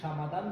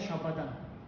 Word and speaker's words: шамадан: Ч никогда не было. Вот слово чемодан, да? Мы сейчас говорим по-казахски чемодан, но мы на самом деле говорим не по-казахски, мы говорим по-русски. В рамках казахского. Ч превращается во что? Ша. Ш. Прекрасно. Любое Ч иностранное, когда входит в казахский, сразу превращается в Ш.